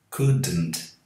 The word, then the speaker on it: couldn't: Então não tem nenhum som aqui depois de D. Um vício muito comum entre os brasileiros, eles falam couldn't. Não tem esse D aqui, ok? O D é mudo.